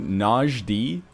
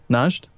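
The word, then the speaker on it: Najd: me over the limit is that really how you pronounce it Naj d yeah najed najed is the country and then njd would be the adjective oh okay I I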